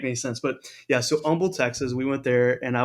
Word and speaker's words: Humble: place in Texas called Umble Texas it's actually is if you've never heard of it it's actually spelled humble um but the H is silent in Texas I found found out